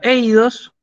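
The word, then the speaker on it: εἶδος: Tenemos la palabra eidos, fíjense cómo la pronuncio, ¿sí? Eidos, tenemos el acento circunflejo sobre el diptongo.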